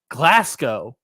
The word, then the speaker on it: Glasgow: the chats corrects me glasow not the W the W the w go W is silent um oh are you